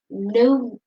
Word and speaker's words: pneumonia: Do you know how dangerous it is to catch Pneumonia. pneumonia?" Because that's with a P. Because that's with a P, but it's pronunciation on the N.